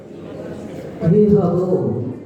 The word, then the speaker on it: विभवो: जाता विसर्ग, जाता नहीं, परिनिष्क्रमेण विभवो, विभुवा नहीं बोलना है, यहाँ वा का उच्चारण करना है।